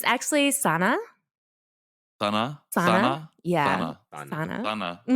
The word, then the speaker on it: SunAh: um you know like my name has many pronunciations so like a lot of people call me Sana um which is like all my like non-adoptee